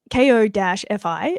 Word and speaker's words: Ko-fi: shop, and don't buy coffee, buy notebooks. You're welcome. Yeah. So, it's it's a site that's called like it's like Ko-fi, and you can pronounce it coffee or Kofi, and it's literally for artists.